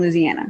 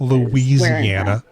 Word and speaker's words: Louisiana: And I believe you pronounced it Louisiana? Yes, I was born in Louisiana. Not Louisiana. No, too many syllables.